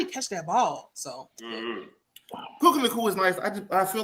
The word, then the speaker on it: Puka Nacua: Well, how do you pronounce the other receiver's name? Nakua. Puka Nacua? Right. Puka Nacua. Puka Nacua.